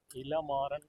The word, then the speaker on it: इलामारन: ये इला मारन actually pronunciation है इला मारन, है जी, ना।